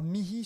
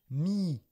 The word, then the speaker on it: mihi: moi à toi d'ailleurs mihi souvent on le prononce et on l'écrit mii simplement m i c'est une forme contractée d mihi àam ou bien d àam donne à moi de l'eau.